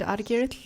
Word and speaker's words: Odgurel: I know that a lot of their success, including President Odgurel. Now, say that name for me. President Odgurel. Okay, well, see, I pronounce it the way it shows in English, and so I'm way off.